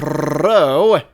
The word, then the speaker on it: Ro: Teleport myself to the great land of Row, which is meant to be pronounced rolling your R as much as possible.